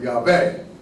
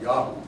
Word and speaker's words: Yahweh: But I think it was actually ultimately pronounced Yahoo.